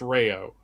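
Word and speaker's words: Rao's: It's pronounced Rayo.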